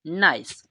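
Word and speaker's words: nice: बनाते हैं ठीक है ई लास्ट वाला हमारा क्या रहेगा साइलेंट रहेगा ठीक है तो इसे हम क्या पढ़ेंगे नाइस इसको हम पढ़ेंगे नाइस ठीक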